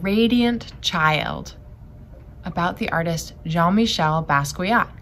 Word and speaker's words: Jean-Michel Basquiat: child about the artist jean-michel basquiat we say his name john michelle basquiat he's a very famous